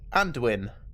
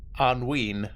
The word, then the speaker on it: Anduin: Like, I would have said Anduin, not Anween.